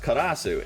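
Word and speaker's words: カラス: it is the Japanese for crow, which is pronounced karasu.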